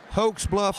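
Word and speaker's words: Hokes Bluff: great so how do you say your hometown hoax Bluff Alabama H Bluff Alabama what happens there oh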